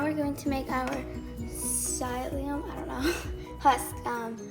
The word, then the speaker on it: psyllium: going to make our sileum i don't know plus um gel i figured out how to say this and it's psyllium husk so now i'm going